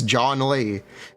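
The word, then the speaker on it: Zhongli: I love this nightbot thing where if you don't know how to pronounce Jong Lee, it's John Lee. It's technically closer than trying to say Zong.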